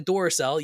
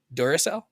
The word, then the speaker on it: Duracell: you just fought the Doraclell, yeah, they're three bucks more. They're going to let Or Energizer. Sorry. Whatever. Whatever floats your boat. I tend to use Energizer. Duracell. You said it right that time.